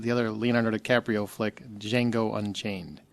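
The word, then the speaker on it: Django: other Leonardo DiCaprio flick D Jango Unchained the D is silent thank you Justin also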